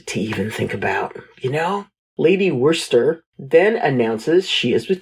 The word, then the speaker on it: Worcester: I feel the need to apologise on behalf of all English names for the fact that is pronounced Worcester.